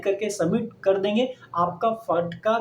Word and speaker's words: FATCA: Spelling है FATCA, बोलते हैं फटका है, पर इसका क्या है फुल फॉर्म?